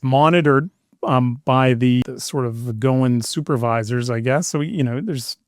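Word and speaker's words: Goin': Yeah, Goin app. Goin app. Yeah. How do you spell that? Well, it's GOIN apostrophe, like going, but short.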